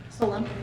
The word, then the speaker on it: Solon: Did I pronounce that correctly? Solon.